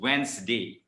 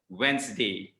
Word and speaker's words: Wednesday: that is wrong okay the actual pronunciation of this day of the week is wednesday it's just a two-syllable word wednesday not wednesday okay so start correcting